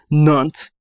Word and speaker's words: Nantes: I completely butchered that one. Nantes.